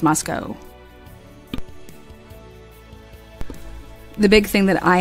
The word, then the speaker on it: Moscow: guys know how to say it right it's Moscow the big thing that I have an issue